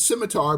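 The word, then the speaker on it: Psimitar: Uh, it's scimitar, but it's spelled with a psi or p.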